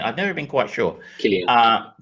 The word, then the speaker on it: Cillian: Is it pronounced Cillian or Cillian? I've never been quite sure. Cillian. Cillian.